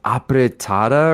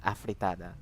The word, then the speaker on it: afritada: My mom would make, pancit, and is it pronounced apretada or something? Oh my God, yeah, like a F sound, afritada. Afritada. Oh my God, it's with an F.